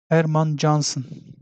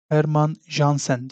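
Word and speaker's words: Hermann Jansen: yabancı bir Mimar dırdır Erman cansın Erman jansen diye okunuyor Erman jansen arkadaşlar Bu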